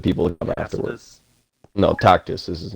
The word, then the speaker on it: Tacitus: No, Tacitus is his name. Tacitus. Yes. Tacitus. Okay. Well, pronunciation doesn't matter to me.